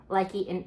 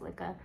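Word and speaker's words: Lykke: For those of you who don't know, I have likey and a likey lika. I think it's supposed to be pronounced lika, lika. I don't know.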